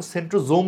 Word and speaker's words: centrosome: এখানে দেখো সেন্ট্রোজোম লিখা আছে। আমি সোম উচ্চারণ করছি। কোন উচ্চারণটা সঠিক? দুটাই সঠিক। তুমি সেন্ট্রোজোমও বলতে পারো। সেন্ট্রোসমও বলতে পারো।